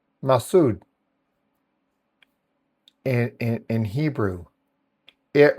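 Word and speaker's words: מצוד: Um the word fortress which is is pronounced mass massud in in in Hebrew.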